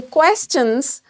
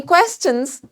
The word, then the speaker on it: questions: That these words which are ending with S-T-I-O-N, we are going to use chun sound while pronouncing them, but we are not going to produce shun sound.